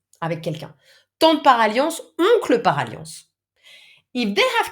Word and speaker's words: oncle: Tante et oncle are not easy to pronounce, actually. Oncle, I'm sick, but the nasal sound is there anyway.